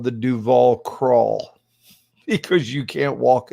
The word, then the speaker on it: Duval: west called duval street duval they pronounced like robert duvall and the idea it's